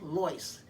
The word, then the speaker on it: Lois: my mother never said lois they always pronounced her name as loice as in l-o-y-c-e but it's just easier